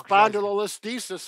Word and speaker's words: spondylolisthesis: Spondylolisthesis.